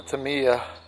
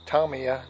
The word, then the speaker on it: Tamiya: especially on this this very old probably 15 16 year old uh Tamiya or Tomia depending on how you like to pronounce it uh 540 can motor